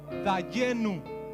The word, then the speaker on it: dayenu: van a conocer y se dice en hebreo dayenu Cómo se dice esa